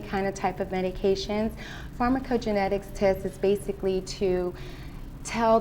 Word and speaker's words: Pharmacogenetics: Pharmacogenetics. Yes. Did I pronounce that right?